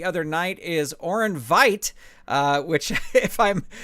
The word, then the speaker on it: Veidt: Or did you say wait? Oh, it's so confusing. But that's okay. Well, yeah, Zeke on the board said it rhymes with night, so I'm assuming. Okay, yeah, so Orin Veidt.